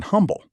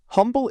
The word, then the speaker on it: Humble: Humble is named for Pleasant Smith Humble and the museum's own account says the silent H follows the way he spoke his name.